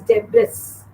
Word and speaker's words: debris: It is usually pronounced as debris. No, it's not debris. It is debris. It's debris, not debris.